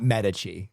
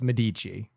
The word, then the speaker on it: Medici: No, it's not Medici. It's Medici.